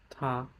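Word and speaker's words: 她: It's still pronounced ta, but and it has a different radical.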